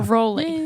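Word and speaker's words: Rollei: The Raleigh. Yeah. Or Rolly, depending on who you are. How do you say it, Ava? Raleigh. Yeah, I say Raleigh. Raleigh sounds cooler anyways. It does. So stick with Raleigh. Rolly sounds kind of odd to me.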